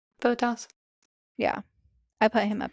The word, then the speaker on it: Bottas: Bottas.